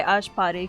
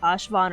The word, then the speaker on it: Ashvapati: Okay, Ashvapati. Because before, I was about to say it like Ashvan or something.